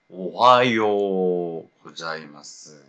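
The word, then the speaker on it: おはようございます: 오하요 우 고자이마스 근데 이 우가 이 단어 가운데 오잖아요. 그럼 발음을 안 해요. 지워야 돼요. 대신 이제 장음 처리하죠. 그래서 오하요 고자이마스가 된다는 거죠.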